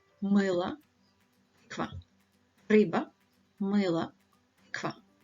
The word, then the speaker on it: мыло: Рыба, мыло, тыква. Рыба, мыло, тыква. Don't say риба, мило, тыква. Yeah, it needs to be pronounced harder.